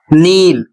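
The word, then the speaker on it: kneel: अगला शब्द है नील, स्पेलिंग है के एन डबल ई एल और नील का अर्थ होता है घुटने टेकना। यदि आप नील पढ़ रहे हैं तो सही पढ़ रहे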